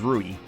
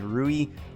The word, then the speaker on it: Rui: the brother which was rudy i feel like i pronounced this name right wrong actually rui but anyway you guys